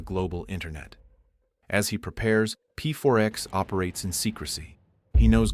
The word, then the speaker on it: P4X: So P4X takes precautions. He adopts a pseudonym to hide behind. He chooses P4X, pronounced PAX, a cheeky nod to enforcing peace through punishment.